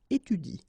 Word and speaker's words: étudie: So after another vowel, like here, for instance, you don't pronounce this okay? So in that case, if you want to pronounce it correctly, you should pronounce it like il étudie. Okay, so the last thing that you will pronounce will be the vowel I here. Okay, il étudie. You don't pronounce this here.